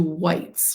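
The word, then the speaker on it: wight: things dead creatures like people or dragons into whites which is spelled wi G HT a wh which is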